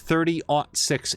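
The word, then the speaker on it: .30-06: Jab clarified in chat, and I did see it in the VOD, that you would say that as 30-06 ammo.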